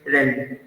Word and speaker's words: realm: इसको ज़्यादातर लोग बोलते हैं realm, but the real pronunciation is realm.